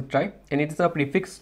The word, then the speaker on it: trie: so yeah let's begin a try always pronounced a try and it is a